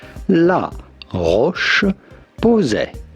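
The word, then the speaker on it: La Roche-Posay: How do you go about pronouncing it? La Roche Posay.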